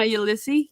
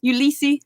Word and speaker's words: Ulisse: And they were both produced by my best friend and producer Donna Ulisse. Ulisse.